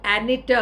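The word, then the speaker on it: Anita: इन 1991 द अनीता hill controversy happened. ये अपन अनीता कहते हैं, वो लोग एनिटा कहते हैं, इतना सा डिफरेंस है। इंडियन नेम है अनीता, उनका प्रोनाउंसिएशन है एनिटा हिल।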